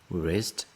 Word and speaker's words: wrist: are Swiss wrist watches here we don't pronounce w r rest wish rest washes are